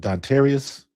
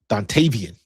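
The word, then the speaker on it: Dontayvion: So um when you got um especially with the signing that we had yesterday with the uh Eagles receiver um was it Dantius? Dantavian.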